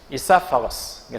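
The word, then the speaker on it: esophagus: 영어로 발음할 때 이는 아주 거의 들릴락 말락 발음합니다. 이사파거스.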